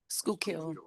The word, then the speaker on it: Schuylkill: Your inspections of federal correctional institution in Schuylkill, pronouncing that correctly? Schuylkill.